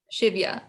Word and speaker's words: Shivya: for inviting me um it's pronounced shiv yeah like shave yeah shivya that's really pretty thank you